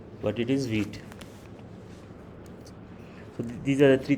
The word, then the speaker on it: Vite: um by Instinct maybe you are going to pronounce it as white but it is wheat so these are the three things we'll be